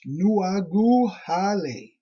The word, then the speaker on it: Nuagahali: Nuagahali, pronounced Nuaguhale.